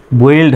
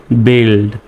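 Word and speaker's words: build: স্বাভাবিকভাবে বানান করলে বি ইউ আই এল ডি বইলড হয় কিন্তু সঠিক উচ্চারণে আসতেছে বিলড তারপরে জি ওই এলডি কি হবে জিতে গ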